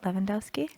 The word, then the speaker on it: Levandoski: Levandoski?